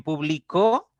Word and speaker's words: publicó: sílaba del medio y en publicó ya la la mayor intensidad o el acento se va a la última sílaba Entonces estamos hablando estamos